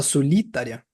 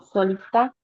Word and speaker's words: solitária: tônicas desse primeiro verso o li o li a gente fala solitária não solitá solitária bem a gente já